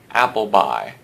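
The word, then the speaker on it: Appleby: character names to consider applebe although let's go ahead and pronounce this guy's name Apple by he is as American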